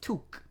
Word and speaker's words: toque: It's T-O-U-Q-U-E. Toque. Who the fuck thought silent letters were a good idea?